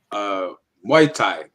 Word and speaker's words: Muay Thai: Um, Tell me the name of the Thai class again, Frankel, so I pronounce it correctly. Oh, that's Muay Thai. Mai Thai.